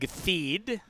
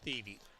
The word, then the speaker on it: Theed: We're going to get a pinch hitter in Greg Theed, who will come in to bat after Tyler Hewitt grounded out to first. I'm pretty sure it's pronounced Theedy.